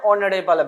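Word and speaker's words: honourable: इसका मतलब एन यहां हो सकता है क्योंकि एच साइलेंट है और एच साइलेंट है। यहां पे एच आपका साइलेंट है। देख सकते हैं एच साइलेंट है। तो यहां पे ऑनरेबल जो है वो कौन सा साउंड ले रहा है?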